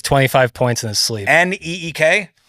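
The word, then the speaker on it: Nique: points in his sleep NE K uh that's how it's pronounced okay I think it's ni I qu e okay that makes a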